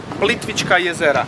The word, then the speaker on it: Plitvička jezera: Or Nacionalni park Plitvička jezera.